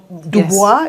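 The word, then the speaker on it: Du Bois: rule so WB Dubois I think did I pronounce it properly Dubois yeah the he's he wrote that piece in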